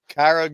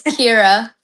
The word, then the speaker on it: Kira: Is it Kyra Good? It's Kira. Kira.